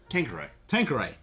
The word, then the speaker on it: Tanqueray: Tanqueray.